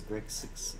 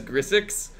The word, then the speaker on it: Grixis: Oh, the reason why that is spelled wrong is because for a long time I mispronounced Grixis as Grisix, and Chad always gave me grief about it, so I just started intentionally spelling the deck names wrong.